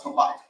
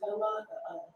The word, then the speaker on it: halak: It's halak. no, it's halak. Okay. The only time we don't pronounce the H is at the end of the word.